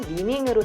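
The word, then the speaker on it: 李宁: 우리나라식으로 한자를 풀면 인형인데 국내에서는 중국식 발음인 리닝으로 더 많이 알려져 있는데요.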